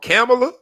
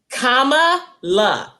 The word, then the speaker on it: Kamala: that our names while they are beautiful present pronunciation problems sometimes i don't heard this lady called camilla i don't heard of it camilla kamala how